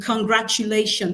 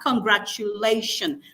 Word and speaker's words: congratulation: So if I have congratulation, the stress should also fall on the penultimate syllable lei.